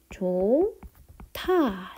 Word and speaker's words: 좋다: 자, 좋다. 어떻게 발음 나죠? 좋다. 이렇게 발음이 납니다. 그러면 히읗과 디귿이 만나서 티읕이 하나 남은 거죠.